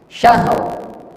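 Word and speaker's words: شهر: Karena ro-nya ini itu termasuk tafkhim, tebal, syahr. Karena sebelumnya berbaris A, maka ro-nya meskipun dia sukun itu dibacanya tebal, tafkhim.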